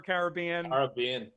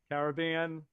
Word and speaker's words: Caribbean: Let's do, we've got one for Caribbean. Caribbean. It's Caribbean. They were the Carib Indians. Yeah, right? They're the Caribs, so it's for sure Caribbean.